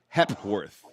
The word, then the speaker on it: Hepworth: Like hepatitis, Hepworth.